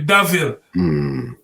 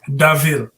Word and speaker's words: Da'Ville: So I said, da, it's supposed to be Daville. You know what I mean? I must come to up and say, you know what, D-A hyphenated VILLE, Daville.